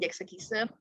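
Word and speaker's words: Sechs Kies: Generasi pertama itu HOT, terus God, Jack Sekise, atau tulisannya Sex Kiss tapi bacanya Jack Sekise.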